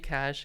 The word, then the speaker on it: cache: TV cash, you know, cash is is acceleration technique, right? So it's it's a it's a very technical term, but a key cash has the same pronunciation as cash.